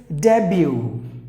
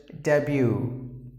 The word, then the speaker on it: debut: Great, it's debut. Here again, similar to this, the letter T is silent.